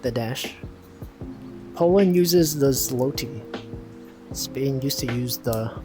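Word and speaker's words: złoty: It's pronounced Zwoti.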